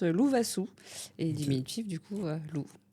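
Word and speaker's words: Lovasoa: Et ben moi c'est alors Loup Loup parce que mon prénom en malgache se prononce Lou Vasou et diminutif du coup loup.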